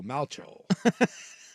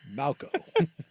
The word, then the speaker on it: Malchow: Yeah, they're saying it's pronounced like the replacements quarterback Shane Falco, so Malcho.